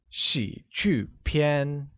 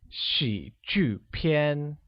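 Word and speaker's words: 喜剧片: movie will translate as she qu PN which is pronounced with the falling rising tone on I a falling tone on you and a high level tone on a let's try it again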